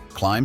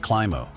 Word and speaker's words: climb: Climb sounds like climo. Correct. Don't pronounce the silent letter.